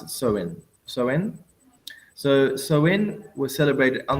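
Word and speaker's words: Samhain: likely fell upon was the festival was called Sam ha which is well I say sam ha but apparently you pronounce it so in soen so soen was celebrated on this first day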